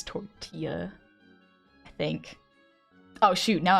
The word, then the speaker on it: tortilla: Did you just pronounce the L's in tortilla? Tortilla. I think I've watched too many Vines. I know it's tortilla.